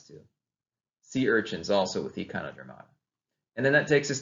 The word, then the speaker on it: Echinodermata: Phylum Echinodermata, that's how it's pronounced.